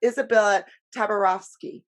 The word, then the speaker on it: Izabella Tabarovsky: And we have Izabella Tabarovsky. I said that right? Absolutely. Okay. Perfect pronunciation.